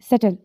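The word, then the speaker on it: subtle: B silent होगा और जब ये टी से पहले आता है तो ये साइलेंट होगा देखिए इन एग्जांपल्स में जो टी के एग्जांपल्स हैं वो देखिए एस यू बी टी एल ई सटल doubt and date ये ऐसे वर्ड्स हैं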